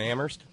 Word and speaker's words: Amherst: to Terry up in Amherst where only the H is silent thanks to Lauren out